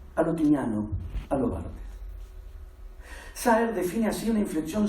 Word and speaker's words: Barthes: Yo digo Barthes, pero Julio ayer lo pronunció bien y ahora me da una vergüenza. Roland Barthes.